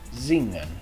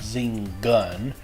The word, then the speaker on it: zingen: You want to say it zing-un. Zingen. Hear that? It's not zing-gun.